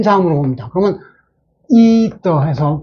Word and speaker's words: ether: 그러면 이더 해서 발음이 이더 세모를 시키고, 어떤 경우는 테더 할 때는 이게 요것을 두죠.